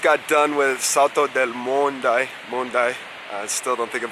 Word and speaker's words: Monday: Mondai. Alright, I'm gonna fuck that up. Salto del Mondai. It's not Monday, how it's spelled, not lunes.